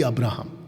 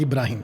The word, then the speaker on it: अब्राहम: अब्राहम को चुना इब्री अब्राहम every अब्राहम नॉट इब्राहिम इब्राहिम Muslims बुलाते जोइश लोग अब्राहम हम बुलाते हैं अब्राहम इब्री इब्री मतलब हब्रू